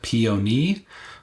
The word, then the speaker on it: peony: So if we take a look at the colors, we have what I have been told is to be pronounced as peony.